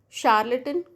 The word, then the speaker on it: charlatan: Another case, charlatan, right. So CHARALATN, तो CH is pronounced as sh.